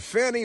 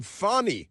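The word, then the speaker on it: Fani: through law school and Fanny Willis who likes to be called fonnie you have to pronounce the a uh differently but she's Fanny Willis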